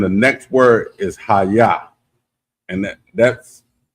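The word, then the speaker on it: hayah: Like I'm saying, the next word is Haya, and that's it's spelled Ahyah, and it means to become or to be.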